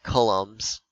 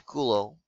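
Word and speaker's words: coulomb: is called the kilogram now kulo is named after a guy who is French that's why you pronounce it like that you don't say like colums okay it's kulo it's French okay um that's also why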